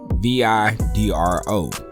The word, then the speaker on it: Vidro: that's kin to lags her name is vidro v-i-d-r-o hydro or vidro however you want to pronounce it so let me know